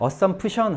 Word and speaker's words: assumption: 이게 그 여러 가지 규칙이 있는데 이게 규칙 중에 그 발음을 하는 규칙 중에 뭐가 있냐면 자음이 3번 겹치면 가운데 발음은 보통 발음을 잘 안 해요. 그래서 assumption 하지 마시고 assumption이 맞고요.